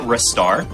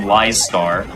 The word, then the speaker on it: Ristar: So I pronounce it Ristar because you don't pronounce my name Listar.